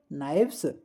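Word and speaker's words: knives: Pronunciation ध्यान रखिए, नाइफ नाइव्स।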